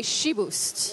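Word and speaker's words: chiboust: but here we say she boosts it's pretty rare because usually in French we don't pronounce the final T's or s so it's peculiar about boost but it's because it's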